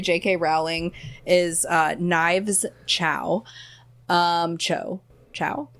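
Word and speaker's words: Chau: Chow? It's Chow, but it's spelled the Cho.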